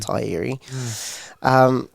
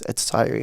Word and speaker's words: Te Ariki: Yes, it is called Te Ariki, not Te Ariki.